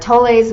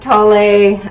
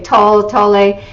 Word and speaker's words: Tolle: a lot of Eckhart Tolle's work. And I believe it's pronounced Tolle. I know a lot of people say Tolle, but Eckhart is German, and in German you would pronounce Tolle.